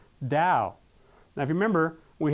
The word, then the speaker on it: Tao: Now it's interesting again is that way or truth or path in Japanese that is do and in Chinese it is tao which is pronounced dao.